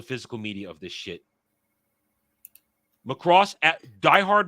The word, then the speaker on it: Macross: Macross, diehard Macross fans, I should say it right. Macross, not Macross. Macross.